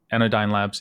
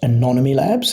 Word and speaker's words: Anonyome Labs: so it's actually pronounced anonym Labs it's a hard thing to say because it actually stands for anonymous me it was it was